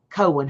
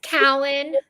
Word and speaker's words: Cowan: But so, please welcome Judge Cohen. How are you? And am I pronouncing your last name correct? It's Cowen. Cowen. Okay.